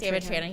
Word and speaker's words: Trahan: David Trahan. Did I say that? Did I mess it up? Always. Yeah, you said it right, I think. Yeah, David Trahan.